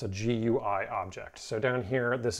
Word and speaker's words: GUI: graphical user interface objects also known as gui which is frequently pronounced gui so uh when we